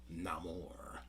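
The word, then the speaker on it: Namor: a great job building Neymar up as a threat or uh now more as he pronounces it no more uh so Neymar was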